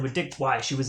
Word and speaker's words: Wei: Like, Dick Wei I think it's pronounced Dick Y, but I'm like so set in my ways.